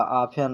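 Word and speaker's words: often: इसको आन पढ़ा जाएगा आफ एन और लिखा है आफ्टन तो टी ई इसमें भी एन आया है टी ई एन इसमें भी आया है तो इसमें टी जो है यह साइलेंट होगा टी साइलेंट होगा अब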